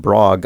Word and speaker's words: Brogue: It sounds like Michael Brogue, pronounced Brogue according to his website by the way, must have just recorded all the sound effects on a guitar.